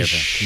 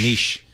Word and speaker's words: niche: You say it differently. Niche. Niche. So it's pronounced. I always say niche, and then people say, no, it's niche. All right. So you can't win.